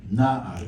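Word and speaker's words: נער: Essa é a palavra, no caso hebraico, que é Naar, que a sílaba tônica aqui é a primeira, Naar, é um servo, também essa palavra significa jovem, tá?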